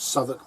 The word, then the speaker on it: Southwick: she passed out at a place called souk Park which is spelled Southwick now that's got unique